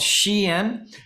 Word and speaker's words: Shein: out of this webinar I just taught you the proper way to pronounce shein um it's a a a shortening of the phrase she's inside or she's an Insider so it's an American